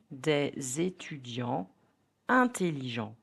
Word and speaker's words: des étudiants intelligents: Some liaisons are optional. Native speakers may pronounce them in formal speech, but not always in conversation. An example, des étudiants intelligents.